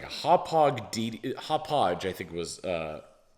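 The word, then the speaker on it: Hauppauge: like a hot pog hop podge i think was uh it's really hard to pronounce h-a-u-p-p-a-u-g-e i'm sure that's hot podge but it was a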